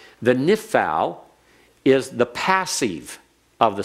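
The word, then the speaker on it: Niphal: But notice, if you know the name, nifal, just listen to the pronunciation. Nifal, nishmer, nifkad. They all follow the same pattern.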